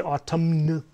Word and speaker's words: autumn: the we don't say autumn right we say autumn right the n over here is silent we have the word